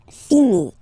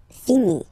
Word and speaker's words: finis: Je finis. Remember, final s is not pronounced. Je finis.